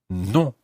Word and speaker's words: non: And that is non. Non. Now, you'll notice immediately that in French, the word non is in fact quite a nasal sound.